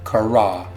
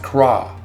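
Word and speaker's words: קָרָא: I cry out in this passage is one Hebrew word, and it starts with the letter Qoph, and the word is Hebrew Strong's 7121 kara, pronounced kra.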